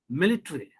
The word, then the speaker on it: military: t and r this a gets silent secretary military basically automatically you can check it in your dictionary you will not find this a sound there similarly a sound you